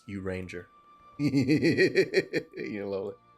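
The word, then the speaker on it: Urianger: Uli Anjay. No, it's pronounced Uranger.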